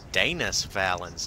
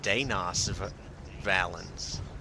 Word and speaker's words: Danas Valens: It's Danas Valens, not Danos Valens.